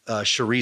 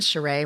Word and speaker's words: Sheree: I remember Will Smith famously in 1995 left his wife, Cherie Zampino, and that's when he got together with Jada Pinkett Smith. Are you sure it isn't Sheree?